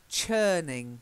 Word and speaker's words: churning: the next one is churning with a Chuck sound rather than a Shh so it's churning changing